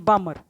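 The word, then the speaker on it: Balmer: तो साइंटिस्ट जे बामर, क्लियर, क्या नाम है इसने, जे बामर, इसमें इसको बाल्मर मत बोलना, एल साइलेंट है।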